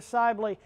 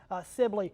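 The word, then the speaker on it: Sibley: an eye on, but also this area near Sely. It's a bit uglier uh that uh we're keeping an eye on. Apparently, I've been mispronouncing that. that I just got corrected in my ear, but um Sibly apparently.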